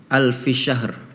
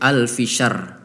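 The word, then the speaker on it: ألف شهر: Ini perlu diperhatikan di kalimat alfi syahr. Tadi dibacanya alfi syahr, haknya hilang. Jadi haknya hilang. Yang baik aturan alfi syahr. Ro-nya, haknya kena, ro-nya kena. Syahr, ya. Tadi cuma dibaca alfi syahr seperti itu.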